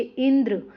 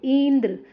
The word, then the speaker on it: इंद्र: इन शब्दों का उच्चारण कीजिए। इंद्र, यहाँ पे देखो इंद्र, अग्नि, तो यहाँ पे क्या है, ई और अ पर ज़्यादा जोर दिया जाता है।